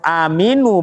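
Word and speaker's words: آمِنُوا: Tapi kalau harokat mimnya kasro aminu bacanya, itu kalimat kata kerja perintah. Kalian beriman.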